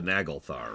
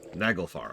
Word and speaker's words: Naglfar: I mean, the Naglthar, right? Or however you pronounce that. Naglfar.